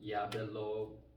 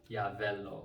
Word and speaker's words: Yabelo: 12th I studied in Yabelo town. A place people like Yabelo, Yabala, or there are some people who pronounce it wrongly, Yavello, which is very wrong.